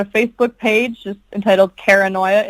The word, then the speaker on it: Kara Noia: I have I've got a Facebook page just entitled Kara Noia. It's spelled like paranoia, but with a K and a space between the Kara and the Noia.